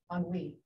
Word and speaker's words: ennui: from French, and I never knew how to pronounce it. I had to look it up. Ennui.